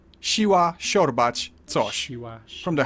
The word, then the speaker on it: Siła: It's like a softer sh, which I've already compared to English sh in shoe. Siła, siorbać, coś.